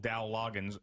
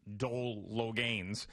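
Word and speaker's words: Dowell Loggains: Also, Brian Greasy, one mistake, and I was laughing last night when he called Dow Loggins Dole Logains, which I said, you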